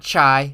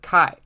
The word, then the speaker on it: chi: a couple of notes this is pronounced Kai and not chai and not Chi it is the kai